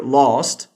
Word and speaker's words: last: Again, for British pronunciation, you might hear lost for this one, something closer to that.